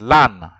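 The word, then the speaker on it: l'âne: It is it's actually you pronounce it lan. Lan means the donkey. Repeat after me, lan. Lan. So lan, even if it ends with an E, I said most words that end with an E are masculine.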